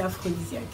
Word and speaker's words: L'Afrodisiac: Ça s'écrit AFRO, donc comme vous l'avez dit, pour jeu de mots Afrique. Et aussi pour l'ingrédient secret qu'on met pratiquement, quasiment dans tous nos plats, qui est assez aphrodisiaque.